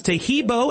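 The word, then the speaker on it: Taheebo: Tahibo is spelled T like Tom, AHEEB like boy. Oh, that's Tahibo, and then continue with the word tea, and then the word club.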